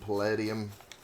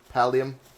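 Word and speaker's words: Paldium: But I am going to grab a whole bunch of these stones and palladium palium. I keep I keep pronouncing it as a word that actually exists in my brain and that's just that's on me.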